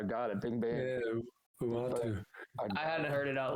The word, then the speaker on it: Uatu: It's Uatu. Okay, that's what I got it. Bing bang. Yeah, Uatu.